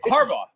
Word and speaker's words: Harbaugh: No, it's Harbaugh.